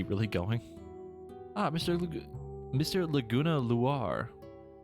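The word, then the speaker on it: Loire: Laguna Luar. I'm assuming that's how you pronounce that. Kind of like noir, but with an L.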